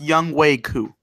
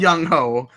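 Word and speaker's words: Younghoe Koo: what's his name ho ho no no it's pronounced young way Koo Yong Yong ho qu it's you know it's spelled Yong ho but it's Yong woo yeah okay a guy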